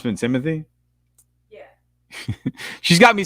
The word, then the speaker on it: Timothée: I don't think it's really Timothée. I think if you pronounce it in French, maybe it is, but he just says Timothy. He says Timothy? Yeah. He just tries to make it, simple for everyone.